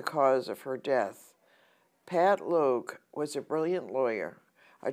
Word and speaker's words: Logue: And Pat, and I think it's pronounced Logue, L-O-G-U-E, was a Lambda legal attorney